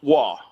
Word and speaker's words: Roy: Like uh so growing up my dad would always correct me with the same thing. Patrick Wah, right? But it's spelled Roy. So I'm like, "Hey, look, I got a Patrick Roy." He's like, "That's W." I'm like, "No, it's Roy. Sound it out."